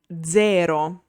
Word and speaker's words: zero: When Z is voiced, it's called Z sonora. For example, zero.